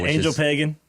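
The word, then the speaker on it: Ángel Pagán: Angel Pagan. Yeah, Angel Pagan. If you're a true American, that's how you say his name.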